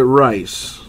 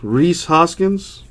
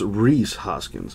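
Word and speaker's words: Rhys Hoskins: Reese or is it rice well what's what's the correct pronunciation of that man what else we have is that his knee is it Reese Reese Hoskins is the correct pronunciation to that there we go a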